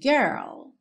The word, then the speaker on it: girl: que para você treinar é interessante você começar parando no R depois acrescenta o r então começa com girl girl enrola a língua como na porta com a perna esquerda depois que você tiver com esse R pronto enroladão bem bonito Girl você põe o l lá no C da boca ó girl girl alri e